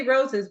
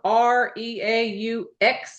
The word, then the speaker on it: Reaux: It's Pretty Roses, but it's not spelled Okay. regular. Pretty. Roses is spelled Reaux, like X-ray S. Reaux.